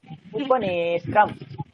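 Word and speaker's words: উপনেত্রম্: উপনেটাকে দীর্ঘ করুন, নে বলেছিলাম এখানে দীর্ঘ মাত্রা, উপনেত্রম।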